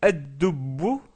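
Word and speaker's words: الدب: Donc toutes ces lettres se doublent au début, donc c'est pour ça qu'on met une shadda et on ne prononce pas le lem.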